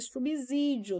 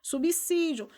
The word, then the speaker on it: subsídio: Então, o registro da norma culta indica que a pronúncia não deveria ser subsídio, deveria ser subsídio.